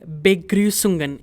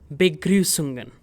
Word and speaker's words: Begrüßungen: Begrüßungen. In case you're struggling with the pronunciation, this part is be and this part is grü, grü of English, and then the remaining part will be sungen.